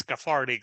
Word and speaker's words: KTHRTK: it's called a farting you know it's spelled Kate H rtk but it means cathartic so uh Doug how